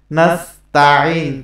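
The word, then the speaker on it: نَسْتَعِين: এখানে তাইন বললে নামাজ নষ্ট হয়ে যাবে। এখানে নাস্তাঈন, তা জবর তা, নাস্তাঈন এরকম।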